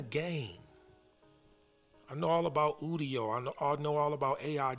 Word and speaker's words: Udio: one I use called Udo. U E D I O. Not UE. U D I O. It's spelled like studio without the S and the T.